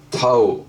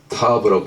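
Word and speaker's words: תו: 마지막 22번째 이 글자는 타우 혹은 타브라고 발음합니다. 이거 십자가입니다.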